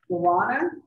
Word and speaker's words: guarana: Offers a fresh, improved formula featuring seaweed, green tea, and guarana. G-U-A-R-A-N-A. Am I pronouncing that, Robbie?